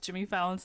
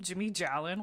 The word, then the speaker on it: Jimmy Fallon: talking, and the guy like mispronounced Jimmy Fallon's name, called Called him Jimmy Jalon, which is so funny to me. But Jyn was like, "His name is Jimmy Fallon.